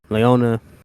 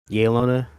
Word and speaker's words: Yelena: But now that we know, Leona. Yelena, that's how you pronounce her name.